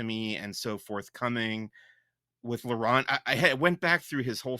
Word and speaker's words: Laurent: I think they gave me I keep saying his name wrong and they corrected me. It was Laurent.